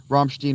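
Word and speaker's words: Rammstein: Romstechstein or too European. That's correct. I listen mostly to Scandinavian music though, Ann. But Romstech or too too European. That's correct. That was actually the exact correct way to say it.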